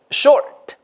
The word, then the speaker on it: short: short 이거는 뭐예요? long short 발음이 아까 금방 나왔던 ort 발음에다가 ort 이렇게 하지 마시고 short short 됐죠?